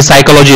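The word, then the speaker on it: psychology: जैसे कि साइकोलॉजी देखो, वो पी से चालू होता है लेकिन उसका जो प्रोनाउंसिएशन वो एस से होता है, हवर, तो एस से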